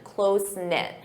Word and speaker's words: close-knit: Notice that pronunciation, close-knit.